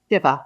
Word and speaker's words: shiva: And there's a thing called Shiva. Is that right? Is that I pronounce it right? Shiva. Shiva. Right. Shiva.